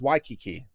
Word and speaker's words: Waikiki: It's pronounced Waikiki.